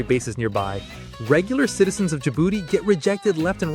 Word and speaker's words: Djibouti: Djibouti. First of all, yes, it's pronounced exactly the way you think it is.